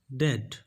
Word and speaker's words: debt: Date, date friends, actually b is silent in this word, so you need to pronounce only debt, debt.